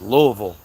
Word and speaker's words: Louisville: It's Louisville. Lville. Louisville V. Louisville. It's not Louisville or Louisville or Louisville. Louisville. Louisville. If you don't say it like that, I know you ain't from here.